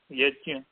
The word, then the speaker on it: यज्ञ: अनंत जी जी, ये इसका उच्चारण शुद्ध क्या होना चाहिए? यज्ञ। यज्ञ ही होना चाहिए। यज्ञ जो बोलता है वह सब नादान है, अशुद्ध बोलने वाला है, दंभी है।